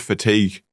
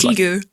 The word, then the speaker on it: fatigue: It's like the word fatigue I'd only ever seen written in for like a solid couple years. I said Fatigue. No, fatigue. Fatigue. Fatigue, yeah.